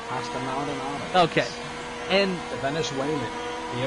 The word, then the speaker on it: Pastor Maldonado: Yes, it's Pastor Maldonado.